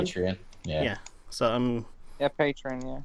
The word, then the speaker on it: Patreon: So anyway, I became a patron. Is that how you say it? When I'm giving money? Patreon.